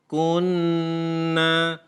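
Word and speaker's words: كُنَّا: Contoh seperti ini. Inna kunna taghin. Membacanya harus seperti itu, tidak boleh kita membaca biasa.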